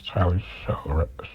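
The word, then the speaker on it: Tyler Shough: They just drafted a quarterback, I think, in the second round in the draft was Tyler Show, right?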